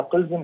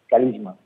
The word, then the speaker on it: كاليزما: هو انا بقولها قلزم لكن النطق الصح بتاعها كاليزما. القلزم دي نطق عربي للكاليزما، ومتأثر باسم بلد موجودة